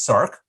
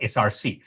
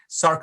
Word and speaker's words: src: is known as a viral Circ it is pronounced as Cirque from sarcoma not SRC sarc from a sarcoma sarcoma causing uh virus viral